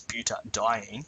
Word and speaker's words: butadiene: We're simply adding an A here so that we can pronounce butadiene. So it's really just due to this DI here that we've added an A so we can pronounce it easier.